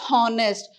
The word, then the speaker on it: honest: don't pronounce it as honest we pronounce it as honest oh it sounds oh yeah so you're again h is silent so use the article